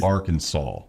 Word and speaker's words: Arkansas: It's Arkansas. Doesn't that drive you crazy?